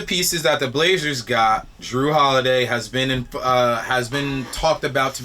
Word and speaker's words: Jrue Holiday: Let me pronounce it better. Jrue Holiday, because it is a J.